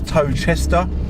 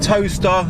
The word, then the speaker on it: Towcester: wonderful village of toaster it sort of looks like it should be pronounced as toad chester but i'm pretty sure it is pronounced toaster not as in toaster